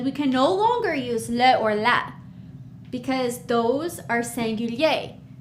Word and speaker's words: les: more than one and in French we say leo as you can see the s is we don't pronounce it we write it we see it when we read it but it's just leo all right good job